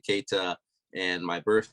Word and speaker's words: Keita: Yes, you pronounced it correctly, Keita.